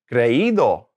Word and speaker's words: creído: All right, taking off the ER, now we're putting the ido on there because it's an ER, putting that accent on there. Creído, creído. All right, let's just keep going.